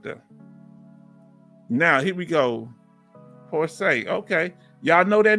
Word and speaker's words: Porcher: Listen, we say, my family name is Porcher, pronounced Porsche. Okay, Porsche.